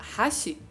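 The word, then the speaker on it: 八: E para ele, aquilo se parecia com a letra japonesa que representava o número 8, que em japonês é pronunciado como Hashi.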